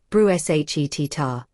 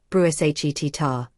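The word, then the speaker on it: bruschetta: The way he'd gently correct me in social situations, it's pronounced bru shar, not bruh shar, sweetheart.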